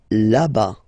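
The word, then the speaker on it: là-bas: la la whoops laba laba remember final s not pronounced laba so remember when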